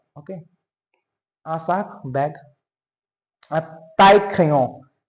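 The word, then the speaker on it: taille-crayon: A tie crayon. Tie, I double L E is pronounced as E. Okay. E, E, E. Pronunciation is kind of E.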